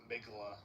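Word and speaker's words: Mgła: The way that I've always the way that I've always heard it pronounced is meala, but I'm sure that's Yeah. Yeah, that's how I um in Polish it has a different pronunciation, but everyone else like seems to go like something like Christians like me.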